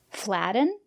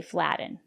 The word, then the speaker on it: flatten: to flatten your pastry it's not correct to say flatten but the syllable after the letter T is not stressed why not because we have a special rule in English we have these words and they all contain t-e-n or t-o-n for example kitten mitten written cotton button flatten and in this case we pronounce the letter t as a stop t put your tongue